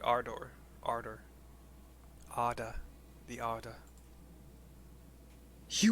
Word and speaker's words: Ardor: worlds rejoined that was a r d as in delta o r r i i pronounce it ardor ardor Arda the order